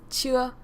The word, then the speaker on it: chưa: And this one you can say it like, so it's chưa. I wonder what it sounds like. It sounds like chia seeds, but it's not chia seeds.